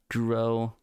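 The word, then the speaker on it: Gouraud: pronouncing the D but I don't think the D is supposed to be pronounced so yeah I'm going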